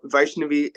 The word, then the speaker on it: Vaishnavi: I would like to discuss Vaishnavi and so Vaishnavi, am I pronouncing that correctly?